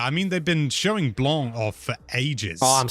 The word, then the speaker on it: Blanc: And I've been pronouncing it wrong all the time. It's me being picky and using the French pronunciation. You can get away with saying Blanc.